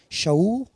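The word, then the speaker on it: שאול: O seu nome, que no hebraico se pronuncia shaú, significa desejado, pedido.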